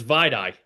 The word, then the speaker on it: Vai Dai: It's Vide.